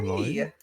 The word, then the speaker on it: Proloi: Proloi. Mm-hmm. Yes, Proloi. Exactly. Like That's that. absolutely how you pronounce it.